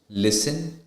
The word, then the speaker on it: listen: now with the T the letter T is not pronounced in the following common English words like Castle Christmas fasten listen often then it when it